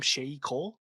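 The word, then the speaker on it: Sheyi Cole: I thought, I don't know, how do you say the lead actor's name? Shay Cole. Yep.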